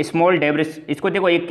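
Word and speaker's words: debris: ये जो रिंग होती है, बेल्ट होती है, इसको ये स्मॉल डेब्रिस, इसको देखो एक इसका प्रॉपर प्रोनाउंसिएशन है डेबरी, ठीक है।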